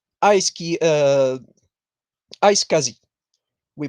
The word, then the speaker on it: iSCSI: the the trend now is what we call i ski uh iscsi we pronounce it iscsi which means internet small computer system interface don't